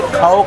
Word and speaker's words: खाओ: How do you say? No. Whenever we say like that, eat, we say khao, khao, khao. Khao means eat.